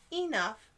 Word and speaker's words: enough: how about this one we pronounce these with a short u sound and an f rough enough and tough you know